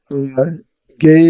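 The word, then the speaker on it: γῆ: So earth is from the Greek word gay, it's pronounced, number 1093.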